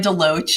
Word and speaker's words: De Loach: I'm De Loach, um, rhymes with coach, so relative relatively simple.